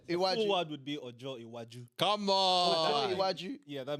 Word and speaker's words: Iwaju: Yo, I've heard some people saying some what Iwahu.